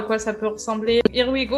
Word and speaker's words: IRWIGoo: quoi ça peut ressembler Irigo alors here we go ça s'écrit Goo ouais et oui c'est wi donc c'est pas comme en anglais du coup IR kwigo